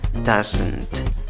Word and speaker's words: doesn't: pronuncia con cinco sonidos como pronuncias esta palabra doesn't estás no le pongas dos sílabas que estás de nuevo